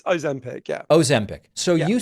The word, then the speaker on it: Ozempic: so the correct pronunciation is Ozempic. Sorry, for people who don't know, that's the extremely annoying jingle in the adverts. It's Ozempic.